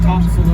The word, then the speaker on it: Topsail: It's not topsail, it's like forecastle, topsail. It's a topsail of the ship. So it helps people understand, even though it's spelled topsail, we say topsail.